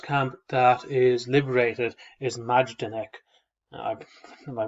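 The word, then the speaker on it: Majdanek: so the first camp that is liberated is majdenek uh my pronunciation because that could be quite poor m-a-j-d-a-n-e-k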